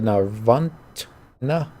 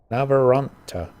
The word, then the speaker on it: Navaratna: They've locked the door, and not only have they thrown away the key, the Navarantna talisman, they call it. How do you say that? Navaratna. Navaratna.